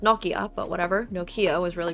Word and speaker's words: Nokia: This was during the time when Nokia was really po, which in Finnish is pronounced Nokia, but whatever.